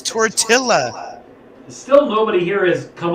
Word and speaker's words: tortilla: tiller i like messing with much it's tortilla still nobody here has come up with what